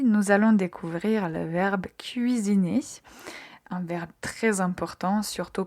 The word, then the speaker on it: cuisine: Faites attention quand vous prononcez u i. Donc, il faut entendre clairement les deux voyelles.